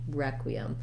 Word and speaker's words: requiem: an e sound now letters r e are gonna have our e red tent vowel so like in the word red requiem starts with that e sound um then we have our q u is a and a sound and then requiem we can either say this e as an m or some people will also say it as a schwa requiem or requiem of course this is